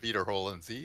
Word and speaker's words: Wiederholen Sie: I mean, which was basically EI is pronounced as I and IE is pronounced as E and Wiederholen Sie is repeat after me, basically.